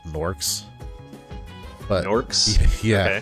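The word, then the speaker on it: Gnorks: In the first Spyro game, you have to like run around defeating these enemies called Norks.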